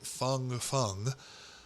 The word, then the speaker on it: Fang Fang: and her name is fang fang i believe the chinese pronounce it fung fung but her americanized name